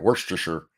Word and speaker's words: Worcestershire: Because you guys decided you don't actually have to say all the letters you put into long ass words for no reason. And for some reason you pronounce Shire as sure.